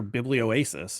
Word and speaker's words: Biblioasis: yeah, And the book is part of the Field Notes series, which is put out by the Canadian publisher Biblioasis, if I'm pronouncing that correctly.